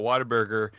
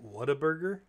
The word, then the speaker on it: Whataburger: left my job at whataburger he gave us like a stack you really worked at whataburger yeah a stack of tickets not what a burger whataburger that's how you say it here weird yeah whataburger i